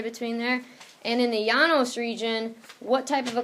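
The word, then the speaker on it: Llanos: there's two L's together yanos two L's makes a y sound in Spanish yep me no so when you go to the yanos region it's a tropical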